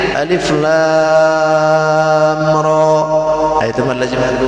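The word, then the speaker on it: المر: Ada lagi mad lazim harfi musyba mukhaffaf. Kalau ini ringan, Alif Lam Ra.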